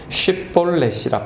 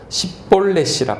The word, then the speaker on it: 쉿볼렛: 아니라 하면 그에게 이르기를 쉿볼렛이라 발음하라 하여 에브라임 사람이 그렇게 바로 말하지 못하고 십볼렛이라 발음하면 길랏 사람이 곧 그를 잡아서 요단강 나루턱에서 죽였더라.